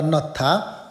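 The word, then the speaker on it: 넣다: त्यो ह लगत्तै माथि द आयो भने थ उच्चारण हुन्छ, त्यही भएर नत्था भनिएको है त।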